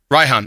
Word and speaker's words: Raihan: the galaxy dragon leader raihan yeah that's the eighth gym leader ryhan oh sorry he's eighth ryhan ryan you pronounce the right hand probably because you're british maybe i don't know